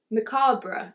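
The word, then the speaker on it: macabre: then events take a decidely ma maab macabra macabra oh is how you say it so yeah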